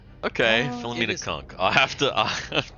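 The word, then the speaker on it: Philomena Cunk: So So her last name is spelled C N K and it's Filamina Kunk and it's an act.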